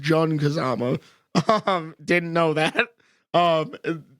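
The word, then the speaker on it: Jin Kazama: Mishima and what I found out apparently is pronounced JN Kazama um didn't know that um you know that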